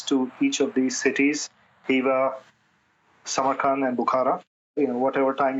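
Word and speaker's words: Khiva: The highlights of Uzbekistan are the cities of Hiva. It's spelled with a K, but the K is silent, so it's Hiva is how you pronounce it.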